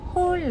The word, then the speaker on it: Hola: 노인가 저희 새 노래가 Hola 느낌표 써서 라라고 읽고 싶으신 분들도 많이 계실 것 같지만 홀 라고 읽어주시면 감사하겠습니다 몰라네 어디 여러분 다